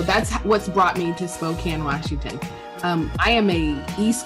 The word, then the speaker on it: Spokane: And I actually call it, Spokane. I think I said Spokane or something. I'm coming to Spokane. And somebody said, that's not how you say it.